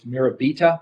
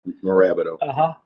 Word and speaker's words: Morabito: If you look at it phonetically, it's Mirabita, but you don't pronounce Mirabita. Morabito.